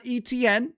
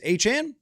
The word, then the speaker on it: Etienne: and they spent and Travis Etienne not Etienne if you missed that Travis Etienne mentioned that his name has not been pronounced right for his entire career it's actually Travis Etienne so there you go